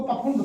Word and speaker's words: Pfund: पाश्चन, पाश्चन series, Brackett series, फुंड, फुंड को पफुंड कहते हैं, PFUND, पफुंड सीरीज होती है।